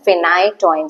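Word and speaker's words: phenytoin: pH I remember four we pronounce it as phite toin so Fe is there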